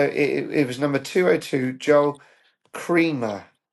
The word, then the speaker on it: Joel Kremer: So it it was number 202, Joel Kremer.